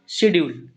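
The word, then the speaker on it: schedule: इसका हिंदी उच्चारण होता है शेड्यूल। क्या पढ़ेंगे? स्ेड्यूल होता है एंड इसको पढ़ते हैं शेड्यूल।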